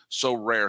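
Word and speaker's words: Sorare: win a variety of rewards which can include so rare scarcity cards game tickets merchandise signed jerseys and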